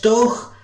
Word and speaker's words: Doagh: If you're no fae County Antrim, then it's hard to pronounce it, for it's no do, d or doke. It's no spelt with a K. It's doch, like clearing your throat when you really hate to.